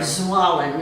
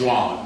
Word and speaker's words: Zwalen: Zwalen is how you say it. Zwalen.